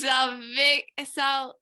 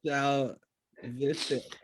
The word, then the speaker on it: salvific: Salvic. John, I'll get Salvic. to correct you on your Wait, grammar, what? lady. Salvicic. Salvific. Salvific. Yes. Salvific. There we go. Salvific.